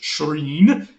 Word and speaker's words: shrine: Our word shrine does go back to the Old English shrine. The sk becomes a sh, and that's why it's spelled sc, but we pronounce it sh today.